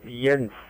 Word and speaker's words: Jens: The name here is Jens Juliet Echo November Sierra, and you pronounce it like the opposite of no with an N in the middle. Jens.